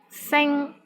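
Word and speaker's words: 星: syllable in your ping sing which means star s i n G1 here the initial sound is s s and final sound is in iing and the syllable is in the first tone the tones in Europe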